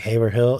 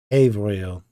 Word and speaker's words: Haverhill: This looks like Haverhill. It's Haverhill.